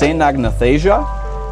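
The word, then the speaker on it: Caenagnathasia: is its holotype, and its name is pronounced Cenagnathasia, and that one isn't terribly difficult to pronounce, but it was hard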